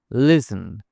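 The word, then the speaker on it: listen: the castle is বিগ লিসেন এখানে টি silent মানে টি এর উচ্চারণ হবে না লিসেন মানে শোনা আমার কথা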